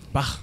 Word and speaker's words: Bach: Bach. Oui, faut le prononcer comme ça.